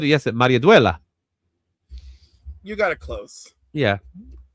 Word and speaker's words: Maridueña: Maria Duela.